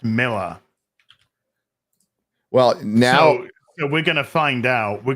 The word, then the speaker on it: Millar: pronounced people are saying even though it's AR it's still pronounced Miller well now so so